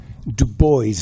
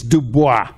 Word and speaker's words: Du Bois: here to talk about my favorite theorist w-e-b Du Bois now you may think it's Dubois it's Dubois okay that is how he wanted